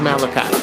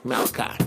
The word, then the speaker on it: Malachi: Oh, it's pronounced Malachi. Okay, my man. King Mal, I got you. Malachi.